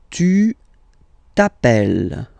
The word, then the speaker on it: t'appelles: All right, second form, tu t'appelles. Okay, remember, final s not pronounced, tu t'appelle.